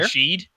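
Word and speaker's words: Rachaad: Rashid? Just make up something like Baker and justify it. I'm not gonna make up a name, but it's Rashad.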